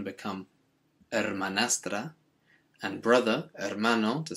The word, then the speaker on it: hermano: remembering that the h is always silent in spanish and that means the brother is you guessed it hermano so we just change